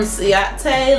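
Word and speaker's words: Ciaté: All right, and then the last item that we got is a lippy product, and this is from Ciate London, and it's spelled C-I-A-T-E.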